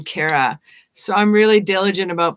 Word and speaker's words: Cara: the name right because i hate it when someone pronounces my name cara and i'm kara so i'm really diligent